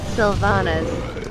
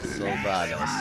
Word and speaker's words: Sylvanas: Okay, MaSsan, today we're going to learn how to correctly pronounce Sylvanas. Sylvanas. Please read the following words in this order. Syndicate, syllabus, Sylvanas, symbol, symptom, Sylvanas, synapsis, sympathy, Sylvanas.